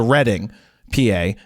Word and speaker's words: Reading: have to go to Reading PA not Reading PA even though it's spelled re e a d i n g it's somehow Reading PA because that's where the